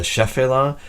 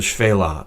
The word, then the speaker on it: Shephelah: is the Fela sometimes you have heard this pronounced in English the shephelah but in Hebrew it is pronounced the Fela and it simply means lowlands rolling hills with